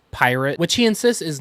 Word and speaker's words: PYRT: about right he announced a project called pyrt pronounced pirate which he insists is not a festival but